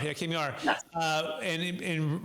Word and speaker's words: Kamyar: Make sure you pronounce it for us real fast. Yeah. Yes. Kamyar, yeah, Kamyar.